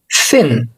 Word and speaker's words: thin: الامريكيه مش افضل حاجه، عدم معرفتك لصوت التي اتش وان انت تنطقه بشكل صحيح. يعني مثلا صوت حرف الاس انا ما ينفعش اعمله زي صوت حرف ان انا لازم اطلع لساني.